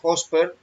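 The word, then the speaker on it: ὥσπερ: Es la G5618, se pronuncia Hosper y significa justo, exactamente, como, lo mismo que.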